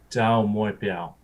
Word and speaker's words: Taumoepeau: - There's different ways of saying my name. My first name is, and my last name could be pronounced Taumoepeau.